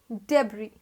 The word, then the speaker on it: debris: i s damage so this word is pronounced as debris debris is left after some destruction or anything